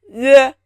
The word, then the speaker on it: 约: It is pronounced 约, 约, 约, 约, 约.